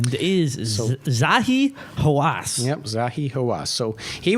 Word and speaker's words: Zahi Hawass: I forgot how to pronounce it. His name is So- Zahi Hawass.